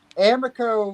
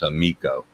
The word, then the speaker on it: Amiko: that dude he's just Amaco was just that he hates it when we call him Amaco he hates it he thinks we're doing it he thinks we don't know how to pronounce amiko now we know how